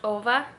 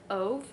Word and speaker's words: Ove: So I think it's pronounced Ova instead of Ove because that's the way that the Norwegians would pronounce it.